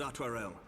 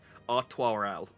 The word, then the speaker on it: Artoirel: Your assistance is most welcome, Lord Atwarel. To arms, then, friends. Time is against us. I have not been pronouncing his name correctly. Artoirel. I shall have to remember it. Like the beer, kind of.